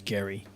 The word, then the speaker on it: Gary: And yes, it's pronounced Gary, not Jerry. I know it looks like Jerry, but it's Gary.